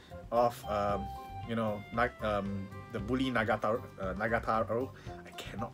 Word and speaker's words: Nagatoro: This is the volume 6 of the Bully Nagataro. I cannot pronounce the name properly. Nagatoro.